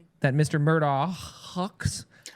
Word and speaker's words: Murdaugh: The correct pronunciation, it's a it's a Scottish name and the correct pronunciation would be Murdo.